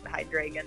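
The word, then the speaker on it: Hydreigon: yeah yeah yeah yeah how is that pokemon pronounced is it pronounced with like a chicago accent like it's a high dragon i don't know i think that is i think without the accent but hi dragon that sounds right i ain't seen a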